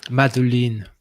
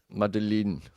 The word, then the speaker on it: Madeleine: The most famous scene in the book that we've been mispronouncing it for five episodes. Oh man. So say again. Madeleine. Madeleine.